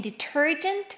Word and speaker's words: detergent: In detergent will be the second one.